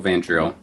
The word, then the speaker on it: Van Driel: or Van Driel? Is that how you say it? Yeah, Van Driel, if you want to use the real name.